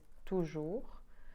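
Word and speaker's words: toujours: to talk about was OU and that's easier because that's always pronounced ooh so for instance we have always which is tuju we have like sepultua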